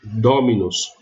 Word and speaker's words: dominus: Mas a pronúncia correta é dominus. Então, ela é uma paroxítona e nesse sistema aqui eu uso uma bráquia para indicar que a sílaba tônica é a anterior.